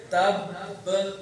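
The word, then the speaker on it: تبّ: اس کو تب اس طرح نہیں پڑھنا، یہ تو ساکن کا تلفظ ہے. صحیح ہے. اس کو کیسے پڑھنا ہے؟ تب.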